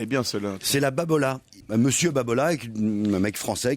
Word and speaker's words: Babolat: Non, c'est Babolat.